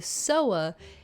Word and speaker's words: sower: called parable of the sower as in a person who sows things like the sowing of seeds and things like that I don't know why I thought this would be pronounced sour I'm very sorry I